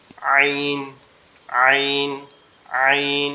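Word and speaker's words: ع: থেকে উচ্চারিত হয়, কিন্তু এটার আওয়াজটা কি হয় একটু শক্ত হয়, মানে একটু চাপা। আইন, আইন, আইন এরকম ভাবে।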